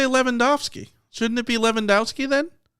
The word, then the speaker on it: Lewandowski: The tough part is whether or not the person wants the W pronounced correctly or not. Like Dirk Nowitzki. And I know that he's German, but it's a Polish name. Dirk Nowitzki is pronounced correctly. Lewandowski, pronounced correctly. But then people say Lewandowski. That's not correct.